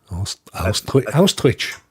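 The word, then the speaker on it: Österreich: So Austria, there you go. Austrich, as they pronounce it.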